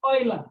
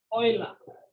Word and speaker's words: Euler: The name is Euler. This is pronounced as Euler. It's a French name. It's pronounced as Euler, not Euler.